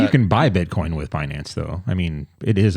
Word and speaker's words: Binance: Is BINANCE, like finance, but Binance.